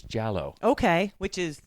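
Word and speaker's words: giallo: okay I guess it's jallow okay which is it's it's Italian for yellow so I guess it makes sense it kind of sounds like yellow yeah that makes sense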